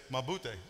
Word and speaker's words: mabuti: And if you say I'm doing fine, you say mabuti.